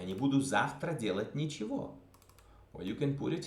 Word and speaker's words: ничего: Завтра я не буду делать ничего. Ничего. Ничего. Ничего. E is pronounced E. G is pronounced V.